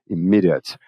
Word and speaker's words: immediate: Geralmente adjetivos e substantivos terminados em ATE, no caso aqui temos um adjetivo, geralmente o ATE tem som de ut. Immediate, como chocolate, que é um substantivo, passionate, que é um adjetivo.